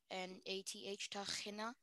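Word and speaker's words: tehinnah: Can you repeat the pronunciation? Tachina. Tachina. Am I saying the word correctly? Tachina. T-O-C-H-H-I-N-A-T-H, Tahina.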